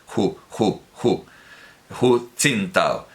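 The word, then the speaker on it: 胡锦涛: Por cierto, que yo digo Hu, pero la mayoría de los chinos pronuncian con una aspirada muy fuerte, casi como una J. Hu Jintao.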